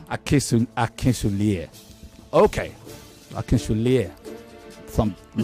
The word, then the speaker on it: Akinsulie: Akinsulie. Yeah. Well, you say whatever. Don't worry, I've had a chat with Daddy. You're American, you wouldn't know better. It's Akinsulie.